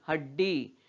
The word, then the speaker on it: हड्डी: हड्डी, हड्डी बोलते हैं क्या इसको, नहीं, हड्डी। क्यों, क्योंकि इस ड के नीचे हल चिन्ह लगा है और इस ड का उच्चारण आधा ही हो रहा है।